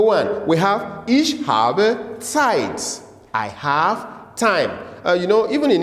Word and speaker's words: Zeit: Remember, our pronunciation of this, the Z is always like this, TS. Ich habe, I'm doing slow motion. Ich habe Zeit. TS, Zeit, Zeit.